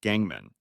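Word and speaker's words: 钢门: brat as a disciple the pun is that gang sect means steel door or steel sect in Chinese and is pronounced Gangman however Gangman is also anus in Chinese walking up to his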